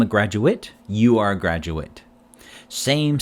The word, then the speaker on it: graduate: eight ate ending words verbs ending with ata eight are pronounced like eight the number eight nouns adjectives with adverbs pronounce like it so we have example sentence i will graduate eight next year i